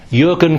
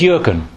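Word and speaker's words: Jürgen: you pronounce his name Jurgen klopp yeah who is the new manager at Liverpool Football Club apparently this is yuren yeah a football manager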